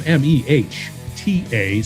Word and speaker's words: Mehta: Yeah, he spells his name MEHTA. So make sure that. Mehta is how you say it.